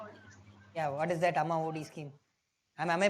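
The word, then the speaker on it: Amma Vodi: Yeah, what is that Amma OD scheme? Am I pronouncing it rightly?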